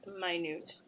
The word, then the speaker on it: minute: second so the second minute with the long vowel eye stressed on the second syllable and a long u sound so honestly the point